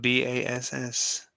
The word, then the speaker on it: bass: Why is it spelled BASS? You say it's pronounced bass?